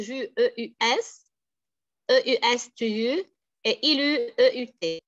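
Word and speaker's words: il eut: Regardez, j'écris je, E-U-S, E-U-S, tu, et ilu, E-U-T. J'écris E-U-T, mais je prononce ilu.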